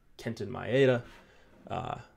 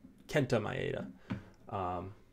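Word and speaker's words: Kenta Maeda: Dodgers so Arrieta against Kenton my ADA Kenta not Kenton Kenta my ADA need to say his name right because I really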